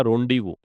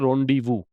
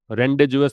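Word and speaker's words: rendezvous: अच्छा इसको प्रोनाउंस कैसे करेंगे? इसको बोलते हैं रोंडीवू। रेंडेज नहीं है रोंडीवू और एक बात और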